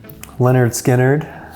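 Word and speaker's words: Lynyrd Skynyrd: Leonard Skinnerd, pronounced Leonard Skinnerd.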